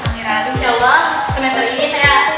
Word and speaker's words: Amira: Dibacanya Amira. Amira.